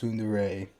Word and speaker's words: tsundere: That it's called I think it's called it's pronounced tsundere, and it's these people who pretend at first to be against someone, and then later on reveal their feelings of true love.